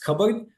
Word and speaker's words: cupboard: token here which is coverboard um the P sound uh all almost always doesn't get sounded in the actual pronunciation of the word covered which leads Learners of